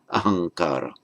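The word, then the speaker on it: अहंकार: It's the ahankara, I maker. And in conjunction with the following word, ahankara, the final M of aham becomes anuswara there. So it's pronounced, written ahamkara, pronounced ahankara.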